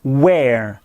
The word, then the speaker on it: where: Le premier, c'est le mot interrogatif en WH, where, où en anglais. Regardez bien la prononciation. Where, where. Il est suivi par be au prétérit, mais ça se dit were.